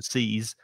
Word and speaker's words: seize: So seize with the Z, there is vibration. It's the vibration. That's what I say. Sound. Like buzz, for example, B-U-Z, double Z. The noise that a bee makes is buzz. To seize.